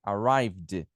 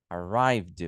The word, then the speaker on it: arrived: O verbo terminou com o som de V, arrive. Você vai pronunciar D aqui. Arrived. Arrived.